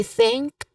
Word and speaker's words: think: Now very clear that the th sound here the version the version of th sound is voiceless because it is um it is soft. It is not using your throat.